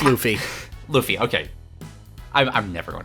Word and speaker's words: Luffy: the art style off pudding and I found lovey annoying a very one-dimensional character does entirely Fair yeah it's pronounced Luffy Luffy okay I'm never going to remember that